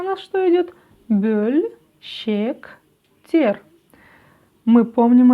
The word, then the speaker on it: бөлшектер: Произносим русское слово «пес». Пес. И у нас написано после буквы «п» буква «ё». Правильно? Но ведь она не звучит как «ё». Она звучит как звук «ы», как буква «ы» казахского языка.